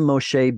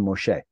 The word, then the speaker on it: Moshe: of hard to say which turns into Moshe the Y just drops off because it's too hard to say Moshe nevertheless the yod that